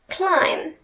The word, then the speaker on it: climb: People stopped pronouncing the B at the end of thumb and climb.